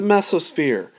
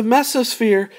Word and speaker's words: mesosphere: Some people call it the mesosphere. All right, it's a pronunciation thing. I'm going to use both because I can never remember which I used last time. So the mesosphere means middle is meso and sphere is sphere.